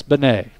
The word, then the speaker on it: Benet: Even though it's spelled Bean, Coach said it's Benet. He goes, I know it's Bean. Don't say Bean. Or Beanie.